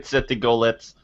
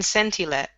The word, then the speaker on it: Centilet: get through Centigolurk and Centigolets in Ravenscore. This has taken a while for You them. still don't say it properly. It's Centilurk and Centilet.